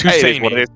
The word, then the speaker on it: Husseini: Our YouTube chat doesn't like your pronunciation of his name, by the way. It's Husseini.